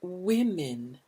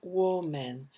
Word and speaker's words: women: and three men on the committee notice the pronunciation it's women the sound there is lips are out for this women good and men okay notice this is not war men but women to e sounds now remember we